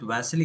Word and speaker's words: Vasily: So in today's session, so we are going to learn about Vasily's. Is it Vasily?